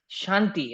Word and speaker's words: Shanti: uh, then we have Shanti, I guess it's Shanti is from, have I said it rightly? It's Shanti.